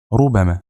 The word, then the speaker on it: ربما: Although the letter B is not stressed, it's light. So, the correct pronunciation is ربما.